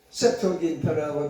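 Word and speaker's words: Septuaginta: 그래서 이름의 유래를 세토긴타라고 독일어로 발음을 합니다. 세토긴타라고 옆에 써 있죠, 별표에. 라틴어로도 그렇게 읽습니다.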